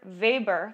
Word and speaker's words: Weber: quieter right that's our difference threshold right weber weber that's how you say it weber's law refers